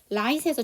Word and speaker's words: right: right에서 GH가 묵음이죠.